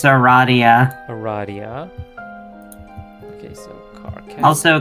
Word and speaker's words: Aradia: There's Karkat, Arania, or Dia, whoever, It's Aradia.